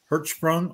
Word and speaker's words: Hertzsprung: such things as the hr diagram now the pronunciation is hertzsprung russell diagram many of you in astronomy 101